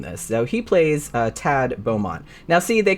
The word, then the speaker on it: Thad: Thad do pronounce it Thad but I was just like I've never met anybody like that it's like most of the time you just pronounce it Tad so that's what I'm